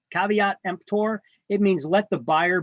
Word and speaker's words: Caveat Emptor: term there Caveat Emptor it's not pronounced kave empor it's Caveat Emptor it means let the